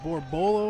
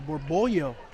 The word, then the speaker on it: Borbollo: Yeah, I wonder, is it Borbolo or Borbollo? Because we know, I've known in my Spanish days that the double L is kind of pronounced as a Y, so I wonder.